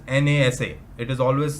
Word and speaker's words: NASA: NASA is never said as NASA.